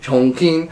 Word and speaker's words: Chongqing: Esto es en China, donde construirán en este lugar llamado Chongqing, así se pronuncia. Chongqing.